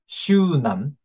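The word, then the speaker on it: 終南: And Zhongnan is pronounced as Shunan in Japanese.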